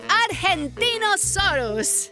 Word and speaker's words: Argentinosaurus: deo hi bleepy and Deo I'm Angie the Argentinosaurus wa that is a big name for a